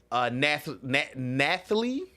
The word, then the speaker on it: Nathalie: You have Adam Driver as Caesar Catalina, Giancarlo Esposito as Mayor Cicero, Nathalie, that's how you say her name, Nathalie Emmanuel